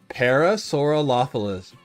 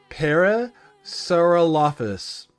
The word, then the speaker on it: Parasaurolophus: Parasaurolophilus. I'm adding an extra L. I always add an extra L when I try to say it. Parasaurolophus.